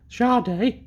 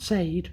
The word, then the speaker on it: Sade: um Sharde not said not Sade as it says it's just it's pronounced charde I've checked um named after the lead singer